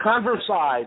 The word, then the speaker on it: Konversai: it's converse i with a k' so a converse I thank you yeah yeah can you converse I'd but let me spell it kon V er s AI comm ko